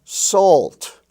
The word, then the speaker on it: salt: Now notice that in the LT spelling family, we also have halt, malt, and salt, where the A is pronounced like the aw sound in all and ball.